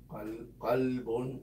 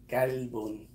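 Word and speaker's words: قلب: So if you pronounce it wrong, like I love you with all my kalb, that means I love you with all my dog.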